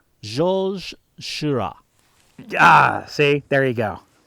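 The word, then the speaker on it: Georges Seurat: sunday afternoon on the island of lagrangiate by georges sorswa i'm probably pronouncing that wrong let's let's do a voiceover this is how it's this is how it's actually pronounced jolzhira ah see there you go that's the way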